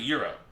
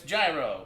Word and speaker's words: gyro: hype um let's go so you pronounce it euro euro okay so i always did two but i hear it both ways like if you go in the south everyone's like it's euro north it's gyro i'm originally from pittsburgh